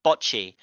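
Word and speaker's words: Bocchi: I'm not saying bot the t is silent it's botchy right I don't what you mean it does sound like that but botchy like b o CC okay okay wait one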